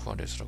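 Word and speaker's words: Juárez: 붙어 있는 그 도시가 후아레스 하는 도시예요 그 영어로 하면 주 그를 이제 후 h 발음으로 이렇게 발음을 하기 때문에 후아레스 부르는데 이제 거기가 뭐로 유명하냐면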